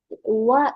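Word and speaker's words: は: Kata kerja T diikuti wa ikemasen. Memang ini hal. Tapi ini kan hal yang di hiragana. Iya, hal cara bacanya. Tapi ketika masuk di rumus, bukan hal lagi dibaca, tapi jadi T wa ikemasen.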